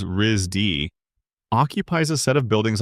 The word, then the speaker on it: RISD: The school, which everyone refers to as RISD and pronounces Rizdy, occupies a set of